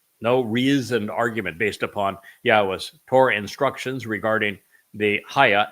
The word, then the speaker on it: Yahweh: So there can be no legitimate argument, no reasoned argument based upon Yahweh's Torah instructions regarding the Haya existence of his name, his Shem, that it is pronounced Yahweh.